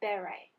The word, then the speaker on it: beret: This is a word that we took from French, and that is why the T on the end of the word is not pronounced, because in French, whenever